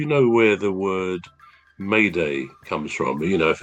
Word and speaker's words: Mayday: M A Y D A Y. It's actually from the French.